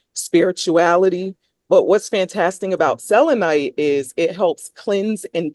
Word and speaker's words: selenite: But when I was snooping around on the site, one that jumped out at me is excuse me if I'm pronouncing it wrong, selenite.